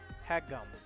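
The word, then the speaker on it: haegeum: Hagum. Hagum. Hagum. Hagum. Really? One more time. Hagum. There we go. All right. It's pronounced a hagum, and it is indeed a Korean stringed instrument.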